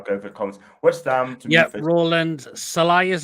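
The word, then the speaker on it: Sallai: look yeah I'll go for comments what's Roland salai is how you pronounce his name yeah Sal yeah he's a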